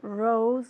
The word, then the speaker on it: rose: It's as if, como si fuera O-U-S, rose, pero con una S como una abejita, ¿vale? Hay que mover las cuerdas vocales. Rose, okay? All right, the next one is for you at home, okay?